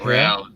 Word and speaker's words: real: it's point two three canadian to one brazilian real is that how you pronounce it again yeah but yeah real hell yeah that's right right because you guys